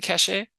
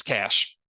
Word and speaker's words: cache: pronunciations mean different things it's cash the computer just told me that anyways uh we've had